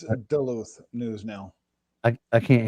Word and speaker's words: Duluth: that man it's a duluth news now i i can't hear you do that again duluth news now doula okay i was close yeah it's like duh luther yeah i got you